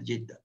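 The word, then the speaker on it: Jiddah: So Jedd simply means mother, and because the city is after this mother, so it is known as Jiddha.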